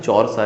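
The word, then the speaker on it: Þjórsá: जॉर्सा river. P से शुरू होती है लेकिन जॉर्सा इसको प्रोनाउंस करते हैं।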